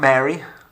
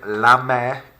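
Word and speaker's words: la mère: this case we have the mother lame not mary or mary or anything like that meh take a minute take a couple of seconds to repeat the word la mer to yourself repetition is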